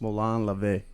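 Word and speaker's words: μολὼν λαβέ: them it's a direct today direct translation it's pronounced Malan lavay but I don't have any you have any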